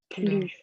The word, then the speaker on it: plus: Потом, если в значении больше не, Мгм. то S не читается.